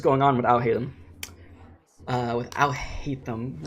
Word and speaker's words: Alhaitham: With Alhaitham, right?